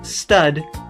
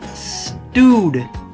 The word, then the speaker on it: Stood: name as stud or stood, including the aforementioned crotchety receptionist from the older school, not the high school. Even though the way you're supposed to pronounce it is stewed, even though it's spelt stood.